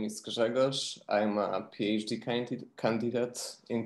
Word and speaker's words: Grzegorz: Okay, so the first I have is, I cannot pronounce it. Gratz Gors, then, yeah, sorry. It's Grzegorz, it's all right. Yeah, so my name is Grzegorz.